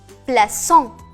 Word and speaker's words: plaçons: Pour prononcer ce et non que. Exemple, nous plaçons.